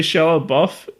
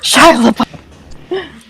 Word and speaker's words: Shia LaBeouf: No, I get that, and then people say Shallow Buff. No, not Shallow Buff. Seth Rogen. Just do it. Shia LaBeouf.